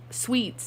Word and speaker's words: suite: Sweets. I think they just call it sweets, actually. Yeah. At the same time, it's pronounced sweet.